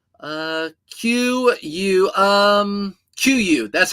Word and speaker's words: Kuiu: D uh qu um quu, that's how you spell it. K U IU. QUU is how you actually pronounce the word QU.